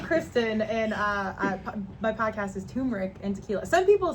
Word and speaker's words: Turmeric: And today we've got Tamarack and Tequila with Tamarack? us. And Tamarack. What is Some- that? did I say it wrong? Turmeric.